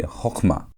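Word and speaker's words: חכמה: So, it's going to be hochmah.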